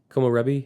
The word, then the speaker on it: komorebi: Komorebi. Is that how you pronounce it?